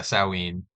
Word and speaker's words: Samhain: Samhain is a different word and pronounced, yeah, Samhain.